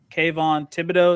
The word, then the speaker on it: Kayvon Thibodeaux: adrian hutchinson goes number one and then uh kayvon thibodeaux is how you pronounce that sure number number two uh i